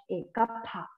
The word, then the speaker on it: Kapha: Kapha, Kapha. The pronunciation is Kapha.